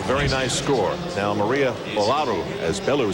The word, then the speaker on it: Olaru: Now, Maria Olaru, as Belu says, our Romanian interpreter says Olaru.